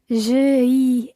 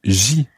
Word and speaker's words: j'y: You just drop the E or the letter E of je, so it becomes j'y ai fait. J'y ai fait mes devoirs ce matin. J'y ai fait mes devoirs ce matin. Okay, so just to go over that, je drops the letter E and it becomes J apostrophe Y.